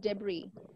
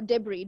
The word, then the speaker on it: debris: it is not it is is silent R is silent yes debris so we call it debris de psychology no no debris debris this is silent yes so psychology now